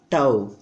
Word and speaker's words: tau: It pronounced tau. A symbol of torque is tau.